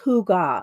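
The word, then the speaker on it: hygge: And then the next one is I think it's pronounced Huga. It's like cozy. It means like cozy in Norwegian.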